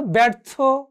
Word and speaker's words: ব্যর্থ: যেমন ধরো ব্যর্থ, ব্যবসা, জফলার উচ্চারণ হয়েছে।